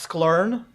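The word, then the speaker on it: scikit-learn: The fourth one is pronounced sklern.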